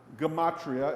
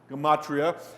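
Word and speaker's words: gematria: Gamatria. It's spelled exactly as it's pronounced. Gamatria.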